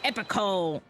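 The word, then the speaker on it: epochal: me to begin my epical epical Hold it. I had to use the Google. E P O C H A L. Epical. Epical. Okay. So, I was saying it right.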